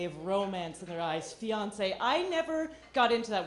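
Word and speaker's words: fiancé: romance in their eyes fiance I never got into that word I did not like saying it uh I actually I never pronounced it properly because I was always pronouncing it financer which turns out it's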